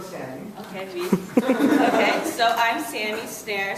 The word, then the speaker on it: Snaer: Okay, so I'm Sammy Snaer, so my last name is spelled S-N-A-E-R. People get the R and the E switched. It's like the drum or the verb, so it's easy for you to remember.